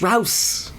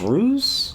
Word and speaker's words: Rouse: you know when you when you see his name his name is spelled r o u e and I used to look at and go is that Josh ruse Josh ruse Jos well he he's here to tell you Rous Country House country mouse